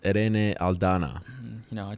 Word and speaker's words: Irene Aldana: There's nothing better than the way you pronounce Irene Aldana. I like the roll of the R there.